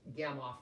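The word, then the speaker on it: Gamow: I know it's spelled G-A-M-O-W, but I think it's Gamoff, like with O-F-F.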